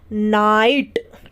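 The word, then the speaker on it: night: है ये साइलेंट रहेगा उसी तरीके से एन आई जी एच टी आई के बाद जी एच टी है आई को आ ई पढ़ेंगे और जी एच को हमारा साइलेंट रहेगा तो हम इसे क्या पढ़ते हैं नाइट ठीक है क्या पढ़ते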